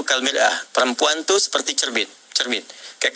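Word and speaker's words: مرآة: Ya, kalimatnya sama, cuma cara bacanya beda. Al-mar'atu kal mir'ah, yang satu pakai fathah, yang satu pakai kasrah.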